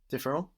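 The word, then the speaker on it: différent: come from Latin and although ENT is not pronounced on the end of verbs it is on other words although not the final T of course so we get say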